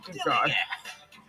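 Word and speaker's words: DILLIGAF: And I can relate to their attitude too, in a word, dilly-gaff. That's spelled D-I-L-L-I-G-A-F, dilly-gaff.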